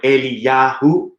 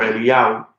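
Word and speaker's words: Eliyahu: that same yo hey in the end of a name it's uh yahoo like yahoo or eli yahoo right or elia if you say it in the sephardic way of pronouncing it they don't really say that ooh sound at the end that's where you actually get elia or elia or elias right uh so basically that's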